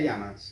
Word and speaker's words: llamas: Lembrando que esses dois L's, ele tem um som bem parecido com o do LH do português. Né? Então a pergunta em espanhol fica, ¿Cómo te llamas?